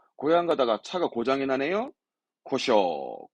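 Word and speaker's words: 故障: 고쇼. 고쇼.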